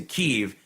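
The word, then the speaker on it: Kyiv: AP to change the the spelling and the pronunciation of Kiev which is the more Russian way of doing it to keev they did it immediately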